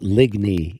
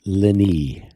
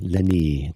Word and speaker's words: Ligny: not pronounced it's not ligny, it's leni. Yeah, leni. The g is silent.